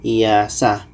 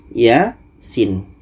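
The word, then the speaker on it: يس: baca Salah jadi ini bukan dibaca iasah tapi dibaca mengikut ejaan huruf jaiah yang ini dibaca ya Sedangkan ini dibaca Sin oke Ya Sin dan untuk ya ini panjangnya dua harkat sedangkan Sin panjangnya adalah 6 harkat jadi kita baca Yas Yasin ya dua harakat Sin 6 harkat dan yang kedua ada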